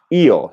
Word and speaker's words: io: okay so that I the word for I is eel so that's two syllables right it's not a diphthong it's not like yo